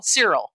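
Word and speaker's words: Syril: Shrill? Cyril. Yeah, there's no H.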